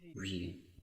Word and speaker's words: Vue: View, like view.